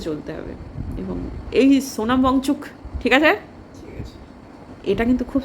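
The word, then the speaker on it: Wangchuk: কিছু ভালো আছে, কিন্তু এই সোনম ওয়াংচুর জন্য ওয়াংচুক সরি, আরে হল নয় ক নয় উচ্চারণ করলামই না, এখন মানে ফ্লোটা না এগেনস্টে যাচ্ছে, এইটাই হচ্ছে কথা।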